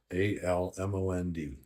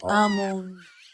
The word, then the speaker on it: almond: A L M O N D. You forgot the letter L. Almond. No. O alm. You said ammon. Almond means your pronunciation is wrong.